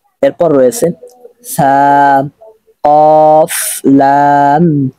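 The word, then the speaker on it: ث: তার মানে বুঝতে পারলাম আমরা সা বলার সময় অবশ্যই আওয়াজটা দুর্বল হতে হবে এবং চিকন ভাবে বলতে হবে সাম কফ লাম তা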